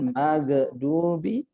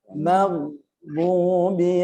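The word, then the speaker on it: المغضوب: Di antaranya ghairil maghdubi, enggak boleh mengatakan magdubi karena dia bukan qalqalah. Ghairil maghdubi alaihim.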